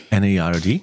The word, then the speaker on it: N.E.R.D.: N-E-R-D. Spricht man die N-E-R-D? N-E-R-D. Ich sage immer Nerd. Nee, N-E-R-D. N-E-R-D. Sind ja Punkte dazwischen. Ja, sind ja Punkte dazwischen. Okay, okay.